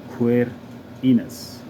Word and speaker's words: Quirinus: distinguished from mars gradibus the koph a different letter from cape k-a-p-e and is frequently pronounced as a q queer enos therefore signifies belonging to